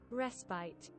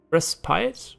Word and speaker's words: respite: can you do it respite respite it's a British pronunciation American respite wait are you kidding me both are correct okay so me for not knowing um respite is American English which I should be probably using since I don't have an English pronunciation for most words and a British pronunciation is respite kidding